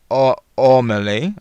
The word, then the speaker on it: Amelie: So the person's name is Amelie, pronounced Ormelie, right?